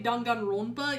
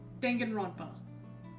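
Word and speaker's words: Danganronpa: That's why I feel like I can't say Dongan Rona even though that's technically how it's how it would be pronounced, but it's dena. Everyone calls it that. It is in fact Dangan Rampa.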